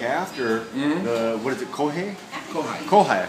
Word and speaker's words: kohai: The senpai has duties and responsibilities to look after the, what is it, kohai?